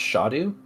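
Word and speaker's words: Scadu: c a duu but in Old English it's actually pronounced shotu because it's a shadow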